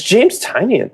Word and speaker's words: Tynion: Yes, James Tynion, Michael Dial. I don't know how to say his name. Oh, it's James Tynion.